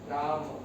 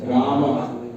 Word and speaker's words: राम: this इ राम राम रामा नहीं राम बहुत ज्यादा भी नहीं खींचना है किंतु अ का अ की ध्वनि आनी चाहिए क्योंकि उसके बाद अ है यहां पर अ नहीं है तो सिपली राम अब हिंदी भाषा में हम इसी को राम बोलते है लेकिन संस्कृत में सेसे नहीं बोलेंगे ये थोड़ा सा डिफरेंस